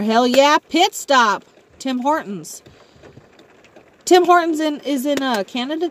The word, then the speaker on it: Hortons: Yeah, actually, I don't ever think I've had Tim Hortons. And yes, I say Hortons. I pronounce my T.